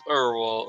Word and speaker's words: Urwal: That's how it's pronounced. Oh yes, Theo. It's Urwal, okay.